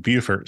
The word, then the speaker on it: Beaufort: But this story takes place in Beaufort or starts in Beaufort, South Carolina. And I want to note, I know that Beaufort, North Carolina, and Beaufort, South Carolina, are spelled the same, but they're pronounced differently.